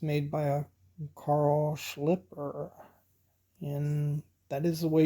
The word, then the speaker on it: Carl Schlieper: it's made by a Carl Schlieper, and that is the way you pronounce his name. I heard that from a German, so they should know how to say a German name.